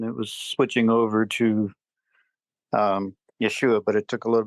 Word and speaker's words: Yeshua: Yeshua?